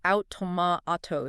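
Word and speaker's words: αὐτομάτη: Automatoes. That last word, that's the key. Automatoes. Automatoes. Yeah, it's pronounced autotoma.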